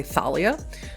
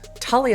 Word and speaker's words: Thalia: And for your edification, Russa, um the th I know it looks weird to an English speaker, you want to say Thalia, but that is just Talia is one of the muses, one of the Greek muses.